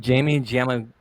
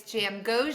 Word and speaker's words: Jamgochian: I have Jamie Jam. I told you I was gonna pronounce it wrong, but uh Jamie, thank you for joining me. Yes, it's Jam Goan and you nailed it before we started recording.